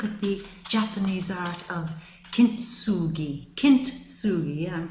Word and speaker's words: kintsugi: I mean, if you look at the Japanese art of kintsugi, yeah, I'm pronouncing that right, I think.